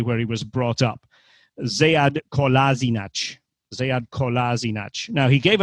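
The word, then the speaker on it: Sead Kolašinac: In the interview, he said that there really are 2 pronunciations, because from the Bosnian point of view, it would be Sead Kolasinac. In German, Sead Kolasinac. Slightly different.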